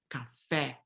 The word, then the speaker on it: café: Always when the E has the acute accent mark, it is an open E. So notice that in most standard varieties of Spanish, we have café, but in Portuguese, it's always café, okay?